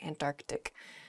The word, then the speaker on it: Antarctic: south is the Antarctic there's sort of like almost a hiccup in the word there Antarctic oh uh in a